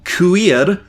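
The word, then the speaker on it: Cuir: really good uh it's called queer is spelt uh c-u-i-r i think it's like friends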